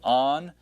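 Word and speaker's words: ἄγγελος: When you see the double gammas together, give that first gamma the N sound. All right, so angelos.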